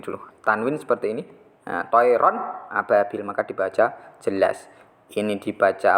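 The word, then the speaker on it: طَيْرًا أَبَابِيلَ: Harus dibaca jelas, tidak mendengung. Jadi cara bacanya, kalau ini contohnya masih kepotong, nanti bisa dilanjutkan. Toiron ababil. Toiron ababil.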